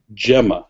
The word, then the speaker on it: Gemma: Okay, Gemma, if you prefer. Okay, so it's pronounced with a J sound.